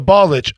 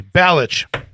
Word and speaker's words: Balich: The Balich, excuse me, Balich. I said it wrong.